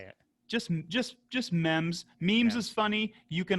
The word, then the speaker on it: MEMZ: full-length instrumental album by the mems duo that i'm i'm assuming i'm pronouncing right yes okay it's not the memes duo no memes for here